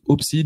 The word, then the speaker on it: Upside: Oui, j'avais c'est Upside, c'est ça c'est comme ça que ça se prononce? Alors, nous on dit Opside, mais on n'en veut pas si on dit Upside.